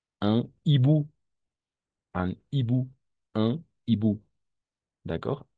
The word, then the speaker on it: hibou: H, le H est muet. No pronunciamos. H es muda. Un hibou, un hibou, un hibou.